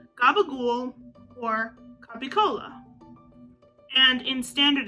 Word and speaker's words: gabagool: somehow softened over time the c in or in capicola or in those southern vernaculars becomes a g in gabagul and the p becomes